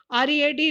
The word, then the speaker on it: read: READ, read. ये past है read का, और एक past participle भी है read का. So read, read, read. Spelling same but pronunciation is different.